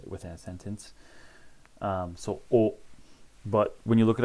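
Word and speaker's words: を: a sentence um so o but when you look it up in a chart it's going to say well but just know it's pronounced o it's pronounced the same as our o here hatsune pronunciation is the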